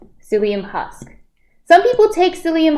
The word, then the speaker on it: psyllium: gluten-free important to diabetes and yes maybe I pronounced it wrong death duck but that's it it's psyllium psyllium husk some people take psyllium husk for um